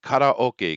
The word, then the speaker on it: karaoke: but I mean it's just the English English pronunciation of it but Cara okay Cara means empty in Japanese and okay is